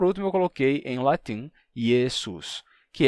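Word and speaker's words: Iesus: em outra língua e em latim ele terminou ficando assim yesus que tem o s no final assim como em grego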